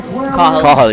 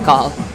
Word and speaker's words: Cathal: Cathal, yeah. Depending on where you go though in the country, it could be Cathal. Right. Yeah. But he's Cathal.